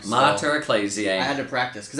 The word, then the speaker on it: Mater Ecclesiae: that today's feast is Monterey clays yeah yeah oklet's EAC I even said it wrong mutter ecclesiae I had to practice